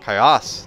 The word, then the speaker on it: Caius: Caius, the dwarf corrected. The accent's in the last syllable.